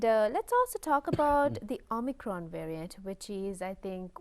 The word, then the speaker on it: omicron: the greek alphabet and the real correct pronunciation is o micron so ah for convenience